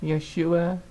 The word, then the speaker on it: Yeshua: dear oh it's Yahshua this name is pronounced Yeshua dear listen here I'm not